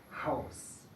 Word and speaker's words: Haus: En estos casos no se escucha, pero en la mayoría de los casos, cuando una sílaba empieza con la H, entonces se escucha, como Hose, Hund, Haus.